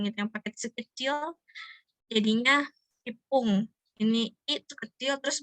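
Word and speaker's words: 一分: Jadi kayak misalkan 1 menit gitu. Jadi bukan icipung tapi jadi ipung ya.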